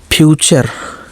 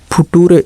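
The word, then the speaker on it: future: देखिए एफ यू टी यू आर ई, फ्यूचर। एफ यू का फ्यू हो गया, टी यू आर ई का चर, टूरे नहीं, चर पढ़ेंगे। फ्यूचर का मतलब भविष्य। फुटूरे, इसको नेटूरे और फिटूरे मत पढ़ने लगना। अब आप बोल रहे होंगे कि क्या सर जी नेटूरे के चक्कर में फुटूरे खराब कर रहे हैं, तो भैया नेटूरे और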